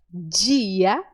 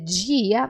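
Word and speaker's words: día: palavra aqui porque ela a palavra dia no português nosso pronunciamos com o som de dia dia mas no espanhol a letra D ela é sempre suave ela é sempre Então em vez de dizer dia nós dizemos dia dia dinheiro dinheiro dinheiro percebe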